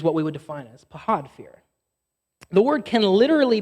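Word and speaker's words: פחד: Technically, it has a much more like guttural kind of like phlegmy pronunciation, but I don't want to look dumb, so I'm just going to call it pahad.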